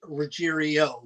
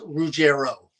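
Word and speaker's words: Ruggiero: was messed up no some people say rerio which is completely wrong uh it's rugero r u g i r o rugero not rerio that's not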